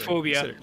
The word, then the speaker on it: Phasmophobia: Phasmophobia.